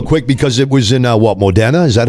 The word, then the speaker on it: Modena: Yeah, let me talk real quick, because it was in Modena? Is that how you pronounce it? Modena.